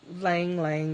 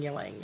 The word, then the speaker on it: ylang: And lang or ylang. I hear it pronounced two different ways.